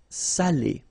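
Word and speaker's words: salé: So if you don't put the accent, it means dirty and then you pronounce it sal. But in that case here, okay, you put the accent and it's quite important because in that case it means salted. Okay. Sali.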